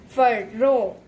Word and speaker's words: Pharaoh: This word is, how is it pronounced? Pharaoh.